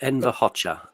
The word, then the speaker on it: Hoxha: Enver Hoxha. It's spelled Hoxha, but Enver Hoxha is how you say it.